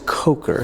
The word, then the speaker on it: Kocher: But then a guy named Lawrence Coker, is that how you pronounce his name? Yeah, Lawrence Coker.